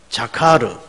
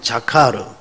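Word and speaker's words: זָכַר: 중심 언어가 될 겁니다 그래서 히브리 음으로 한번 여러분 어 되내어 보는 것이 어 신앙의 유익이 될 것 같아서 한번 같이 따라서 해 보십시다 어 자카르 어우 발음 좋아요 다시 한번 자카르 어이 자르라는 말은 오늘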